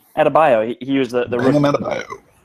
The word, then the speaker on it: Adebayo: I think it was Bam how do you say his last name? Adebayo? Yep, that's right. Adebayo.